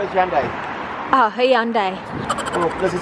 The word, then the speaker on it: Hyundai: How do you pronounce it, Hyundai? Call it Hyundai.